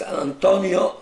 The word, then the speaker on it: Antonio: And was it pronounced Antonio in Antonio, Italy? Antonio, yeah.